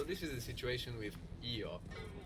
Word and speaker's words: Io: So this is the situation with io. Io, when it stands alone, but maybe a little more like yo when you hear it in a sentence.